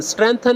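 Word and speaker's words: strengthen: स्ट्रेंथन में जी silent है, ठीक है ना।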